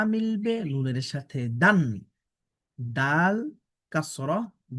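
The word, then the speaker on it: دال: এই হরফটির নাম হচ্ছে দাল। এই দাল অক্ষরটি উচ্চারণ হবে কিভাবে? জিবার আগাটা আমাদের সামনের উপরের দুই দাঁতের গোড়ার সাথে লাগবে। লেগে দাল অক্ষরটা উচ্চারণ হবে।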